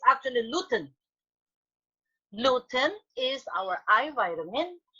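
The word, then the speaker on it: lutein: it on tv sabina but it's not looting how do we pronounce it when we want to sell a product we sell it with uh the correct pronunciation so it's it's not nothing it's actually gluten gluten is our eye vitamin and in this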